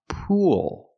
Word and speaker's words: pool: It's pronounced pool. So what's the difference? I'm using the long ooh sound like food and moon. Poo. Then I'm linking to the dark L where I tense my tongue together.